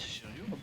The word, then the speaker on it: Cherryo: C'est une dinguerie de prononcer Chiryu. Ah, on dit Chiryu? Oui, c'est Chiryu.